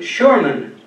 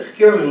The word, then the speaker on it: Schurman: in the United States his name changed to Sherman a Sherman I guess uh it just automatically happened in that many of the skillmans of the USA had already shifted their pronunciation but we know that skierman was the original Dutch pronunciation and was brought to Canada but he shifted his